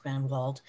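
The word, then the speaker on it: Grenewald: the name to grenwald spelled g-r-e-n-e-w-a-l-d and it is pronounced grand vault when sarah skull submitted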